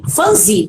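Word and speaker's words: Phumzile: Fanzili, é a pronúncia certa, Fanzili Milambo.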